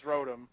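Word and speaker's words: Rotom: from fourth gen is Rotem and i say it that way because it's motor backwards and you don't pronounce it mater so okay anyway I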